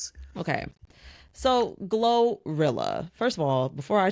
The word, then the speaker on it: GloRilla: Like that like that double L with a Y sound. Yeah, I thought it was Gloria. Like anyways, her name is anyway. Maybe it is. Maybe we've been saying it wrong.